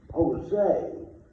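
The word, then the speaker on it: José: Jose is J-O-S-E, but it's pronounced with an H.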